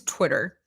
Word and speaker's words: TWTTR: Is that pronounced exactly the same? Or that's crazy. That's just weird. Why? It's the same pronunciation. Okay, interesting. So it is Twitter.